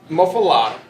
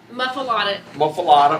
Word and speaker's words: muffaletta: Okay, That muffalata, muffaletta.